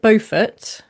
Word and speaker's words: Beaufort: I would say Margaret Buffett. Okay. But I mean it is kind of pretending to be a bit French.